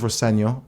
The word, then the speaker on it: Rosenior: My dad says Rosenior, which is the way to pronounce it, but as long as it's nice, you say something nice about me, I don't mind.